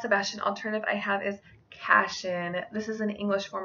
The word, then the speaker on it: Cassian: And my last Sebastian alternative I have is Cassian. This is an English form of Cassius, which means empty. His name can also be pronounced Cassian.